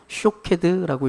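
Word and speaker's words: שֹׁקֵד: 봐야 됩니다 어 여기서 살구 나무가지를 히브리어로 하면 샤드라 읽습니다 샤케드 그리고 지켜보고 있다라고 하는 말을 히브리어로 말하면 쇼크드라고 읽습니다 하나님이 지금 예레미야 이렇게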